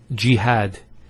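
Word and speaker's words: جهاد: followed by the Edith next word is Jihad so we have here G that's the first syllable and then had Jihad so you notice here we have a feta on the ha followed by the alif and that gives the elongation of the a sound next word Ibrahim so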